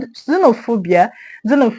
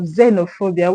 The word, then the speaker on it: xenophobia: So xenophobia has its stress on PHO.